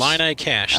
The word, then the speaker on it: Illini Cash: Boom Dynamite and the one, how do you pronounce it? Illini Cash. Illini Cash.